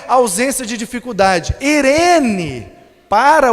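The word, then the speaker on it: εἰρήνη: Aí depois foi traduzido para o grego, e a palavra grega é irene, translitera com Eirene, mas pronuncia Irene.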